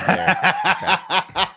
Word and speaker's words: Bexar: Bayer. Silent X.